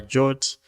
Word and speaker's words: JWT: to be for creating a jwt or a jot that's how they pronounce their wt so i'll